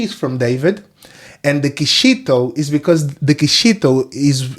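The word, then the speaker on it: Quixito: with their pronunciation probably they will say quisito because is an x on the is a qu u i x i oisito but it's not quito it's kishito so that's that's the x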